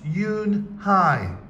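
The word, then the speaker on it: Unhei: II I it's pronounced Eun Hye oh it's you Hey said like in hey what about hey him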